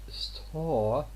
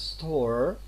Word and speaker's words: store: But the word store, we don't pronounce store, we say store. The R, tends to be omitted in this case here.